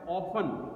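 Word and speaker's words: often: ऑफन, इसमें spelling में थोड़ा सा ध्यान रखेंगे बेटा, इसका प्रोनाउंसिएशन भी. ओ टी साइलेंट होता है, ऑफन, ऑफन का मीनिंग होता है अक्सर, ठीक है।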